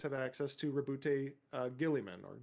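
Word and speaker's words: Guilliman: So, for instance, Ultramarines have access to Rabbout uh Gillimman or Gulman. I don't I think it's Gillimman is how it's pronounced.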